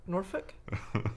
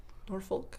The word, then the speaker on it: Norfolk: Is on it how do you pronounce Norfolk? Do you pronounce the L? Norfolk? Not if you're a native. Norfolk?